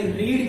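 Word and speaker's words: read: अब लगाएंगे रीड की थर्ड फॉर्म, और रीड की थर्ड फॉर्म रीड ही होती है, बट it's pronunciation is रेड। So remember one thing, रीड की जो थर्ड फॉर्म होती है और सेकंड फॉर्म होती है वो रीड ही होती है, लेकिन उसका प्रोनाउंसिएशन जो होता है रेड।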